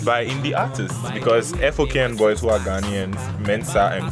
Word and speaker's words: FOKN Bois: And it's by indie artists, because F-O-K-N Boys, who are Ghanaians, Mensa and Kubolo, individually artists, but together F-O-K-N Boys, they are indie artists.